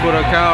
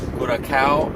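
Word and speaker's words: Curaçao: Jamaica and Curacao are coming up.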